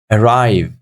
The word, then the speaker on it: arrive: Number two, arrive. We've got two syllables. Arrive, arrive. So look, arrive. Second syllable, obviously, we're saying it stronger than the first one. So the second syllable is taking the stress.